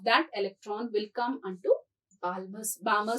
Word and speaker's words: Balmer: electron will come onto Balmer series. L is silent.